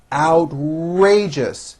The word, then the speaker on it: outrageous: idea is certainly original outrageous three syllables first syllable has the ow sound followed by an r outrageous that was an